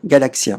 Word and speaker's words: galactien: Tiens, un galaxien, mais ça s'écrit avec un T.